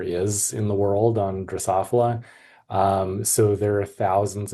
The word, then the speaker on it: Drosophila: So, Drosophilia melan melanogaster. Close. You're close. It's Drosophila. Drosophila.